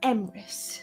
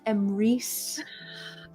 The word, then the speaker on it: Emmeris: Also, it's pronounced Emmeris, not Emry.